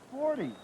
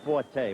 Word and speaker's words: Forte: No, it's 40. No, it's Forte. We're changing. Oh, it's spelled the same way. Right. That's what I couldn't figure out. In any event, F-O-R-T-E.